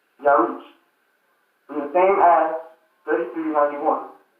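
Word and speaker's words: ירח: Pronunciation, Yaruch.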